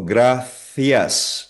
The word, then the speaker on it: Gracias: Sa ibang bansa or region ang basa dito Gracias. Like sa Barcelona and Espanya yung C nagiging th. Gracias.